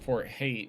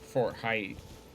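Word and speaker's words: Haight: head on down to Fort hate real quick or Fort height I'm sorry that's how he pronounces it my grandma spells her name the same and it's and she pronounces it hate could use some more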